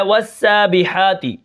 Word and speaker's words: والسابحات: واو سین زبر والسین، کھڑا زبر سا، والسا، با زیر بی، والسابی، حا کھڑا زبر حا، والسابحا، تا زیر تی، والسابحات، وقفا